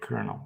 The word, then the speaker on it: colonel: don't know how to how to pronounce the word kernel when you spell it c-o-l-o-n-e-l so I'm stuck with